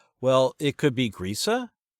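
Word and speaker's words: Griesa: So a good list of words to run by the author is a great idea first.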